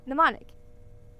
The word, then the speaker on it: mnemonic: Same Greek root as the word mnemonic. The M is silent.